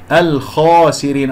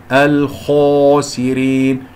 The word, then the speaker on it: الخاسرين: مفتوحة من كسرة الميم الخاسرين، الخاء مفتوحة بعدها ألف مفخمة مرتبة أولى، الراء مرققة لأنها مكسورة أقرأها، وهو في الآخرة من الخاسرين، لا تقول الخاسرين، لا تكور الشفتين، لا إعمال للشفتين عند